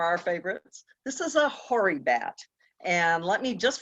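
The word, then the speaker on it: hoary: just from the start tell you how that word is spelled so you can understand why they're called hurry bats that's h o a r y beautiful bat a very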